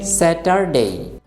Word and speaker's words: Saturday: আরেকটা গুরুত্বপূর্ণ বিষয় লক্ষ্য করুন, আমি কিন্তু বলি নাই স্যাটারডে, এখানে কিন্তু আর উচ্চারণ করা হয় নাই। আমি বলেছি স্যাটারডে।